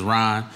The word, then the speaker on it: Rahn: me formally introduce myself my name is Ron but my first name is spelled different this spell are a H in yes my mother was